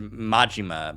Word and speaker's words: Majima: Mishima's Kazu Mishima. I said the name wrong. It was Majima.